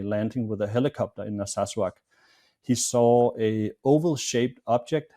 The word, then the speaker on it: Narsarsuaq: Narsarsuaq, yeah. Yeah, it's a difficult name to pronounce, but yeah, it's Narsarsuaq.